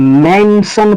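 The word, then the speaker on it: mention: ठीक है, जब टी के बाद आई ओ एन है तो इस आई को हम किस तरह उच्चारण करेंगे, ओ की तरह उच्चारण करेंगे, तो हम इसको मेंशन पढ़ेंगे, हम इस वर्ड को मेंशन पढ़ेंगे।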